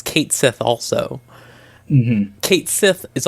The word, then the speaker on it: Cait Sith: That's where you meet Cat Cait Sith is how it's pronounced. It's Cait Sith also.